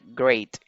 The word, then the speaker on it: great: Here, this E is not pronounced. Esta E no se pronuncia, solo se pronuncia la A como se dice en inglés, la letra A, que sería A. Entonces sería great, great.